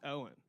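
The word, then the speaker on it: Eoghan: It's spelled E O G Han, but it's pronounced Owen.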